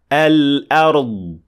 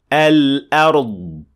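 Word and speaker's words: الأرض: And it should sound like this. Al-ard. Al-ard.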